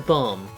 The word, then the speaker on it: bomb: one q and Time Bomb okay well you can't really it's time bomb yeah the B is silent why is it even there they should have did